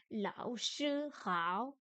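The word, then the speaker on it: 老师好: Lao shi hao. Le che est un ton 1 et lao shi sont des troisièmes tons.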